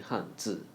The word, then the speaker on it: Hanzi: Z, z, that's the pronunciation of z in Hanzi.